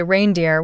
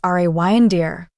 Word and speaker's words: reindeer: Some people say reindeer with too much emphasis on the rain, but that's not quite right. The correct way to say it is reindeer. The rain part is more like rain, nice and smooth.